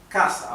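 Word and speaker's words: casa: last but one syllable so Kasa is gravity because the accent the it's it's the last but one syllable that is accentuated it's not Kasa if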